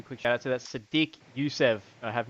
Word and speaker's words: Sodiq: That's how it's spelled. Terrible. SODIQ. Sadiq.